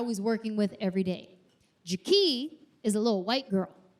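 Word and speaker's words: Jakee': Not Jackie, Jaki.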